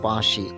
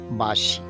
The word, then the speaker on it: বাঁশি: অনেকে বলে ফেলেন কাঁদতে যেমন বাঁশি চন্দ্রবিন্দুর উচ্চারণ আছে বাঁশি সেখানে অনেকে বলে ফেলেন বাঁশি এমন প্রত্যেকটা শব্দের উচ্চারণের দিকে